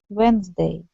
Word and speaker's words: Wednesday: The H, we don't pronounce D. Wednesday.